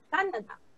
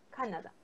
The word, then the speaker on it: Canadá: Canadá, ok, Canadá, la mayor fuerza de voz está en ca, Canadá, ok, Canadá.